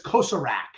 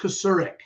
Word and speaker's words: Kasurik: Like, because everyone says Kosarak. Yeah. They say it like it reads. But sure. It's Kasurik. Kasurik. So kind of like soften it as you say it.